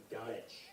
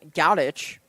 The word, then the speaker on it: Gadacz: It's spelled Gadacz, but it's just Goddich.